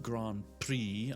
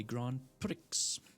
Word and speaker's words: Grand Prix: I know it's pronounced Grand Prix. I just like to say Grand Pricks.